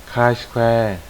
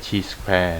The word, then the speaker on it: chi-square: K square นะ ครับ อ่าน ว่า K square นะ ครับ ไม่ ใช่ T square นะ ครับ อ่า ซึ่ง อ่า บาง คน นะ ครับ อาจ จะ อ่าน ผิด นะ ครับ ถ้า หาก ไม่ เคย มาเรียน ก่อน ก็ จะ อ่าน ว่า t square ซะ ส่วน ใหญ่ นะ ครับ ดัง นั้น